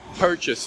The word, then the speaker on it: purchase: take a look at the word purchase for example the accent is on the first syllable per we say it perfectly the second syllable chase we don't say chase rented per case we say purchase it's reduced and modified